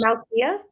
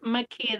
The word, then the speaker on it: Makia: Is it Malia? It's Makia. The L is silent.